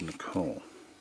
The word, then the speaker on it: Nicola: And these last three are called Nicola. That's the way you would pronounce it.